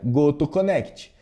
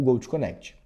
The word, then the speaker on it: GoTo Connect: Um grande exemplo é a pronúncia do Gold Connect. Por ser uma plataforma americana, ela vai seguir obviamente o a forma com que é falado o Gold Connect, ou seja, Go to Connect. Mas aí eu explico para ela a pronúncia que deve ser falada, o Go connect.